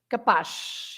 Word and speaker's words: capaz: So you pronounce the Z as Z, except if the Z is at the end and then is sh, capaz.